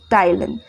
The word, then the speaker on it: ptyalin: ठीक है, स्पेलिंग देख लीजिए, PTYALIN, टाइलिन।